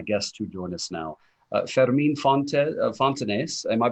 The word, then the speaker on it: Fermín Fontanés: Fermín Fontanés, am I pronouncing it properly? Fermín Fontanés, thank you.